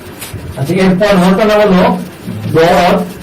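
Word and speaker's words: ض: আচ্ছা, এরপর হরফের নাম হলো দর। এটা মোটা হবে, শ্বাস বড় থাকবে এবং মাত্রার 7 অনুযায়ী হরফটাকে উচ্চারণ করতে হবে।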